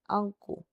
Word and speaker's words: 앉고: 그래서 앉지, 앉고, 감고서는 된소리로 발음이 되고요.